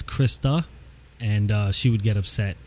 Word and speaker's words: Krista: And real quick though, it's Krista, and she would get upset because people get her name wrong all the time.